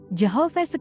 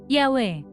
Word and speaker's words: Yahweh: berkata yawek tetragramaton Ibrani secara tradisional kalau sebab 2 ayat 8 diucapkan Joho vs sekarang diketahui diucapkan dengan benar Yahweh rujukan bukti enkripsinal baru